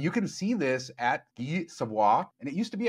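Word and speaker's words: Guy Savoy: got so much shade for all of our mispronunciations for saying Vegas Policy should say Nevada or Nevada instead of Nevada. But Guy Savoie, that restaurant at Caesar's Palace, they have an 1800 Madeira from Thomas Jefferson's collection.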